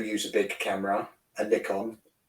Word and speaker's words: Nikon: a big camera a nickon thank God you pronounce nickon correctly unlik my American friends um and I've got